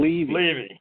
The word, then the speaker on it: Levy: By the way, it becomes more credible when you pronounce the guest's last name properly. So it's Levy.